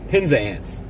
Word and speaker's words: Penzance: Sarah says it's pronounced Penzance or something like that. Penzance.